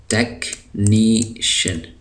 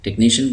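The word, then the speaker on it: technician: चुका है बाय टेक्नेशन सीच जो है इंग्लिश में अमूमन जब सीच की आवाज आती है सीच जब दरमियान में आते हैं तो मूमन जो है इनकी आवाज काफ की होती है के की होती है हर जगह ऐसा नहीं होता लेकिन अक्सर जगहो में सीच जब एक जगह आता है तो फिर इसकी आवाज होती है काफ की तो इसको हम पढ़ते हैं टेक निशन टेक्निशियन कहते हैं किसी भी फन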